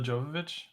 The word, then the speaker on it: Jovovich: Mila Jovovich. Yeah, that's how you Hmm.